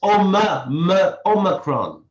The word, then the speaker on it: Omicron: or am i saying i've always pronounced i ah that's what i was taught in school omicron is always making it worse because i've received some lesson on pronunciation over the last few days so i it's omacron okay so is omacron